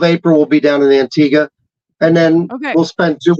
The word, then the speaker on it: Antigua: in an Antigua uh antig how do you say it Antiga Antiga okay yeah um y when